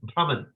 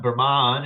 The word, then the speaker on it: Brahman: People say Brahman, but as it's spelled, it's Brahman. Brahman. You'll hear like the scholars and stuff like that. They'll pronounce it. Maybe they'll go Brahman. But it's, yeah, you can go like that if you want. You can Brahman. But there's nothing, there's no long A there at the end for that word.